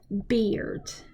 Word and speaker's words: beard: I Bryce and then beard okay not bird beard this is a beard okay so